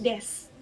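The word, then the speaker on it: です: Kemudian untuk yang desu itu bacanya des.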